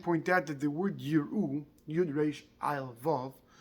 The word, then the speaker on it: יראו: the Aleph is Nocha, the Aleph is silent, the Aleph is not pronounced.